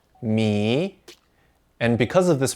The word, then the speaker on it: 米: It's pronounced mi, and because of this pronunciation, it is also used to mean meters.